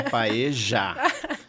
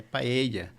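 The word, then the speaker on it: paella: pae e é paeja não é paeja a paeja vocês vão comer lá na Argentina tá o espanhol fica irritado com essa pronúncia de paeja é paea então a paelha eu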